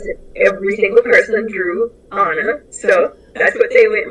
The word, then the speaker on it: Anna: is my name my my name is actually pronounced Anna um like in Frozen um and when my